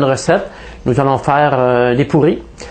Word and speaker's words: puri: Avec ch mesdames et messieurs, bien la prochaine la prochaine recette nous allons faire des pourris. Ça s'écrit pu r i. On prononce toujours le u comme un o.